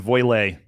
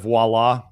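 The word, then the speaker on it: voilà: This next one is just another silly pronunciation, voilé. Instead of voila, it's voilé.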